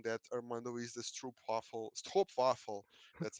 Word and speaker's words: Stroopwafel: one fellow MVP saying that Armando is the Stroopwafel.